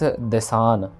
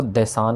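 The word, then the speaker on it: ਦੇਸਾਨ: देश देसान, देसान ये दद्दे में से हारी है, इसको देसान कहना है, ना कि दीसान।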